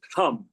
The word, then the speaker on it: Ham: Then your Visuddhi or throat chakra is Ham, H-A-M. Third eye is Om. Now, the Om is pronounced differently.